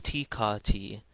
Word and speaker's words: tikati: Here we have a word with two letter T's, and they're each pronounced as T. So this is tikati, tikati.